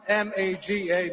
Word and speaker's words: Maga: It's spelled M-A-G-A, Maga.